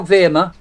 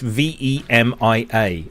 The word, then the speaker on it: Vemia: How do you spell Verma? For the auctions. No, it's you pronounce it right. It's VEMIA, Vemia.